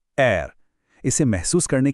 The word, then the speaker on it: R: आवाज गले के पिछले हिस्से से आती है, एर।